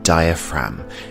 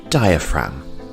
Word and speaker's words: diaphragm: lungs we have the diaphragm and the g here is silent diaphragm our next body part